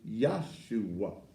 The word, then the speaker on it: Yahshua: accept the name Jesus if we just really historically pronounced his name correctly his name is Yahshua that was no level